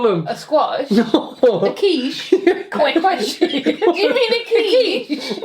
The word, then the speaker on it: quiche: A quiche.